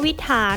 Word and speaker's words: วิตถาร: เป็น ไป ข้อ 7 วิตถาร นะ คะ ออก เสียง วิตถาร หมาย ถึง มาก เกิน